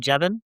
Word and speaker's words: Jevons: That reminds me of your article, Jevons. Is that how you pronounce the name, Jevon?